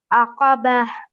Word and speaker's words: الْعَقَبَةَ: So this letter over here, the qaf, the thick and heavy sounding letter. So we have to pronounce it with a thick and heavy sound, which you did really well.